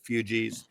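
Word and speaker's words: Fugees: of that, you know, fugis. And someone said I I I said the name of the band wrong. It's basically like refugee. Fug. That's it. Fugi.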